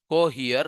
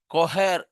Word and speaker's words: Cohere: Some people pronounce it as pronounce it as cohhere. No, it's not right. Cohair is the right word and this is the